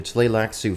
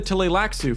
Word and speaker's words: Tleilaxu: How would you pronounce this word? Let's hear Quinn's Ideas say it. The Tleilaxu, for example, are almost not human. And now, Riley. Take the Tleilaxu, for example.